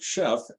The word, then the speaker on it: Shef: app on the weekend called Chef, but it's spelled SHEF because most of the chefs in this particular app are women, so they call them she chefs, so chef for short.